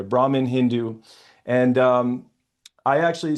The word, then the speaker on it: Brahman: Uh Brah Brahim Hindu and say again Brahman. Brahman. Brahman. Sorry the H is silent there. Brahman Hindu.